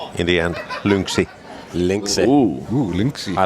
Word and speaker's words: Lynx: What's the correct way to pronounce Lynx? Lynx. Lynx. No, it's more of a lynx, isn't it? No, Lynx. Lynx. Lynx. Yes. Lynx. And it's very Finnish way is to add little I in the end.